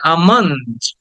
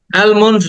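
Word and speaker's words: almond: কেটে টেনে বলতে হবে আমন্ড অ্যালমন্ড না এটাকে অনেকে অ্যালমন্ড বলে অ্যালমন্ড না এটা আমন্ড আ টাকে টেনে বলো আমান্ড আমন্ড আমন্ড এটা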